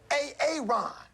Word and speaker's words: Aaron: So, why didn't you say it the first time I said A A Ron? Because it's pronounced Aaron.